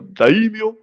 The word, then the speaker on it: daimyo: Daimios? Yeah. How? Just daimios. Daimios? Daimios? Or get you full Japanese accent. Go daimyo.